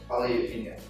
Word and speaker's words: tagliatelle: How was that pronounced? Tagliatelle.